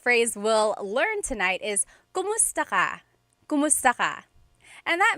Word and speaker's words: kumusta: If you hear my pronunciation and then other people, when they say it, usually they say kamusta ka? Kamusta ka. So it sounds like it's spelled with a letter A, K-A-M, but technically it's spelled with a K-U-M. That's like the correct spelling of it. But the pronunciation usually is kumusta ka, kumusta ka.